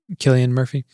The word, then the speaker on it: Cillian Murphy: I mean, dude, it's that feeling I get with, I never remember how to pronounce his name. Is it Cillian Murphy?